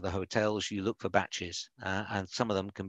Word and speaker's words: bach: a bachelor as a batch and they pronounce it with a t but it's kind of it's a shortening of bachelor so it's a bachelor